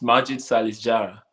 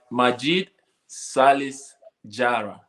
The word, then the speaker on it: Majid Salis Jara: Relax and pronounce it well. Mention it well. What? Majid Salis Jara. Okay, Majid Salis Jara. Jara, okay. Like Jara, the singer.